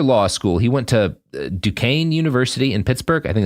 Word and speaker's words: Duquesne: So after law school, he went to Duquesne University in Pittsburgh. I think that's how it's pronounced.